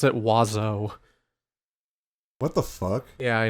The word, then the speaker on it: oiseau: X or something like that, and you pronounce it oiseau.